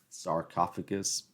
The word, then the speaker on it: sarcophagus: alligator Mommy they had the sarcophagus oh gosh sarcophagus that's how you say it was very fascinating